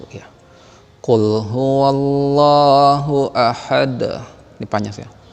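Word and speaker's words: قل: Nih sering udah Bapak bilang dan sudah sering Bapak jelasin, qul qafnya besar, jangan kul ya, harus qaf besar.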